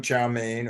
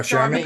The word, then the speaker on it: chow mein: But how did you pronounce that word? Chow. Chicken chow. Chow Okay, mein. you It said was all charmaine. You said charmaine. charmaine. Oh, chow mein?